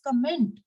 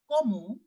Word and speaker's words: comment: otherwise what will happen you will pronounce this word as comment but no in French we don't pronounce it as comment no comment exists in English in French we will pronounce it as Como Como Como tutable